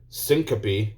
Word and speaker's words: syncope: the maneuver may also feel light-headed or experience syncope which i think that's how it's pronounced which is a brief loss of consciousness